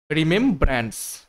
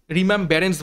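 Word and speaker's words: remembrance: রিমেম ব্র্যান্ডস, ঠিক আছে, তো স্পেলিংটা হয়ে যাবে option B, রিমেম, আর ই এম ই এম, রিমেম ব্র্যান্ডস, বি আর এ এন সি ই।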